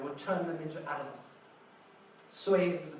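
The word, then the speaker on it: 岁: Soy is the pronunciation of this character.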